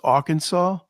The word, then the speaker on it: Arkansas: just so you know, it's pronounced Arkansas, and Oh, I'm so sorry.